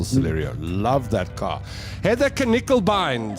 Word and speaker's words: Knickelbein: No, I'm going to go with Knickelbein now that that's the correct pronunciation. I shall never say Nickelbein again.